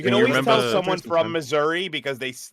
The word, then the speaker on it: Missouri: You can always tell someone from Missouri because they they don't pronounce the I. It's Missouri.